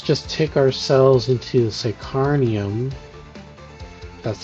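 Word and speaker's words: Psykhanium: crafting, uh let's just takeick ourselves into the sacarnium.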